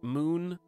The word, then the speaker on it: Mun: Minimus is the second moon uh of carbon so there's the moon or the mun if you don't know how to pronounce it because it's Moon and then way out